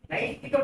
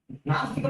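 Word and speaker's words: Naishthika: Naistika Brahmacharya. But some people are wrongly pronouncing it as Nastika Brahmacharya. That is totally different in this context.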